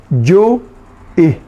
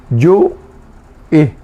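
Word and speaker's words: ju'i: 4 letras tiene este. Porque hay uno que está entre las 2 vocales. Yu y. El pusó. Es el sonido que se corta, que se hace una pequeña pausa. Ese es el que le da el ritmo al guaraní.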